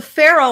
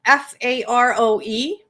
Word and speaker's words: Faroe: Also, there's the Faroe Islands in Scotland. They're spelled Faroe, but pronounced the same as the Egyptian pharaoh.